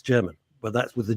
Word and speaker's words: Jermyn: for the first time, that it wasn't German, and kept pronouncing it, oh, you're going to the Germain Street Theatre? No, it's not Germain, it's German.